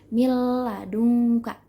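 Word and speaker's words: مِن لَدُنكَ: billaghunnah dengan tanpa gunnah berarti jangan kita baca Mi ladu Kak bukan jadi kita bacanya milladunka kita gabungin tapi jangan kita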